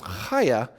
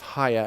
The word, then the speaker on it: chaya: That word chaya in Aramaic, it's technically pronounced chaya. Sometimes it's pronounced chaya, and I want to get this pronunciation thing out of the way, but you're not going to remember it.